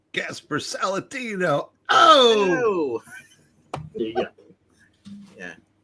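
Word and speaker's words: Gaspar Saladino: Well, you got to say it like, hey, Gasper Saladino.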